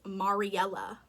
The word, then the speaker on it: Mariella: I actually think I've been saying her name wrong this whole time. It's Mariella.